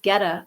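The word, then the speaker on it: goetta: Oh, it's pronounced geta.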